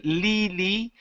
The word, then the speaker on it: Lily: Okay, give me a short I instead of Lily. It's Lily.